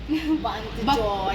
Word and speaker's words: Banceuy: Bacanya Bantu Joy.